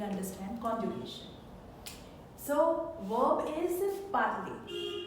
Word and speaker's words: parlent: ENT is written here, but it is silent in pronunciation.